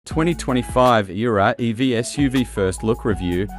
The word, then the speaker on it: Aehra: That's no surprise perhaps, given the Aehra, it's pronounced Aehra design team is headed by Italians Filippo Perini and Alessandro Serra, who both worked at Alfa Romeo and Lamborghini.